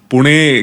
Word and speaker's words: पुणे: मद्रास, पुणे, हाँ पुणे, क्योंकि मराठी लोग पुणे ही बोलते थे और अंग्रेज़ उसको प्रोनाउंस नहीं कर सकते थे, इसलिए उन्होंने पूना कर दिया।